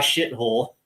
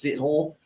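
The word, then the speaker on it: Sithole: And it looks like Yaya Shithole, Seathole. It's funny. It looks like it's pronounced shithole, but I guess it's Seathole.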